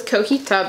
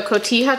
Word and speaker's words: cotija: I always thought it was cojita, but I just realized that is not how it's spelled. So cotija cheese.